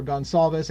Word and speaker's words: Gonçalves: Steve Goncalves, or Gonçalves as some people call it. Again, I think Portuguese pronounces Goncalves, but everybody else seems to call it Gonçalves, and so everybody busts my nuts no matter how I say it.